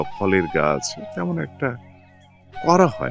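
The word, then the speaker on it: Gard: জি এ আর ডি ইংলিশে উচ্চারণ হয় কিন্তু ফরাসি ভাষায় শেষের এই এর পরে ভাওয়েল এর পরে আর ডি উচ্চারণ হয় না আমরা বলি গা তো দেপারতম বা এটাকে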